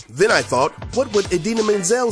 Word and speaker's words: Idina Menzel: Kadim e awards show he mispronounced idina menzel name as she was about to perform her hit song let it go from the movie frozen but he didn't just miss pronounce the name he completely changed it hilariously he called her the wickedly talented one and only adele dazeem of course everyone went